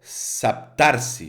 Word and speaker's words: Saptarshi: he pronunciado bien, pero se se pronuncia calendario saptarsi, ¿vale?